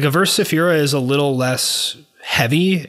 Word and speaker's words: Averse Sefira: It's Averse Sefira. Okay. They're like a weird kind of like dissonant technical black metal band. When I think of that description, I think of Deathspell Omega. Yeah. Like Averse Sefira is a little less heavy and a little